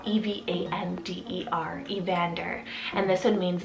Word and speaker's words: Evander: and this one means left then we have a vander spell e v a n d e r evander and this one means bow warrior or